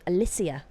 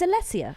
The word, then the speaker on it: Alessia: Although it did kind of wind me up slightly that she kept being called Alicia. Nice. It's Alessia, right?